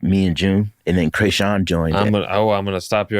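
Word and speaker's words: Kreayshawn: And then you were featured on the Krayshawn, is that how you say it? Krayshawn? Yeah.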